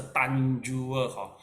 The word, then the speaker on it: Tanjur: Then there's one more is a Tanjur. the pronounce is the Tanjua.